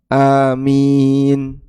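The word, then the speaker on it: آمين: Sehingga tidak boleh mimnya ditasdid. Amin. Nah, ini salah ya. Yang betul. Amin. Yang pendek juga enggak boleh. Amin. Nah, itu gak boleh.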